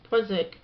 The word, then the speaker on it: Poisson: In probability theory and statistics, the Poisson distribution, pronounced Poisson, or Poisson law of small numbers, is a